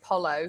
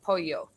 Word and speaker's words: pollo: chicken it looks like pollo so they'll say polo because that's what it looks like but i know in spanish it's polio so i know the little yeah so i